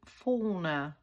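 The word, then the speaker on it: fauna: sentiments and the flourished F forner I think that's how you say it it's flourishing forner f a u n a correct me if I'm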